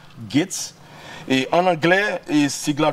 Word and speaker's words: GHATES: Bon Gates c'est on dit prononcer comme ça mais son sigle G H A T E S, Gates.